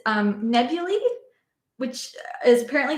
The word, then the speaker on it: nebulae: Yeah, it's nebulae, which is apparently how you pronounce the plural of nebula.